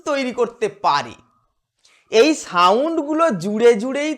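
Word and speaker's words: Z: এটিকে আমেরিকান ইংলিশে বলা হয় জি। আমরা বলবো জেড, এটা দিয়ে জয়ের সাউন্ড আসে, জু, প্রাইজ, এইরকম।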